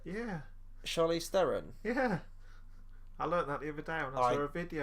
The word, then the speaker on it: Theron: kind of character so it's pronounced pharaoh is it yeah Charlize Theron yeah I learned that